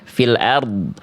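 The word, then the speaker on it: فِي الْأَرْضِ: Angkat pangkal lidahnya tebalkan huruf r-nya. Jadi yang tebal bukan cuman dod, tapi rnya juga ya. Kalau berhenti di sini boleh. Coba diulang lagi. Berhenti di sini ya. fil ard.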